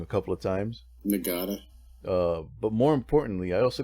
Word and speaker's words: Nagata: Of course, in the last episode, I got General Nagata's name wrong a couple of times. Nagata.